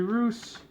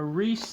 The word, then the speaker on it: Reuss: mad Hungarian Ken singleton Jerry Reuss a Reese they pronounce it two different ways well people do anyways